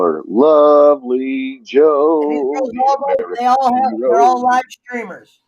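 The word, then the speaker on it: Jho: Well, she is a Joe. All right, there she goes. She says in Asia it's pronounced J-H-O, Joe. Did you see what she put? She put in Asia, it's pronounced Joe.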